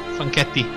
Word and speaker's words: Franchetti: Franchetti. Oh, well, whatever. I know, it's very counterintuitive because CH, it's K. And normal C, it's CH in pronunciation. So it's completely the opposite.